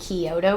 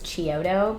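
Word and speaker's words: Chiodo: was created by the Koto Brothers which I always want to pronounce as choto because of the band chotos which I used to listen to all the time in high school and I totally don't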